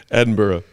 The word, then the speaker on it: Edinburgh: B BG burrow mhm shout out Edenberg is it Edenberg that's how it's spelled Edinburgh Edinburgh you were close from jelly I think